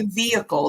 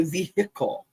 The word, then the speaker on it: vehicle: We say vehicle, they say vehicle. Yeah, vehicle. It's like a hiccup, isn't it? A hiccup. Like they want to make sure that that H does not go undetected. No silent H in vehicle.